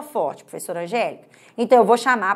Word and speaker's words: Angélica: sílaba G né olha Angélica olha só a sílaba que sobe é considerada a sílaba tônica é considerada a sílaba forte Lembrando que essa análise